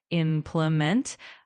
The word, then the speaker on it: implement: For example, in implement, make sure the emphasis is on the first syllable. Implement.